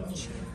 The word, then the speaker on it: Mancera: Кстати, Мансера. Итальянский манчера. Ну, я нашла в интернете, что произносится Мансера, даже не Мансера.